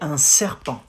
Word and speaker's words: un serpent: You say un serpent. Un serpent. Un serre from the throat again. Serre, r, serpent. Un serpent. Un serpent.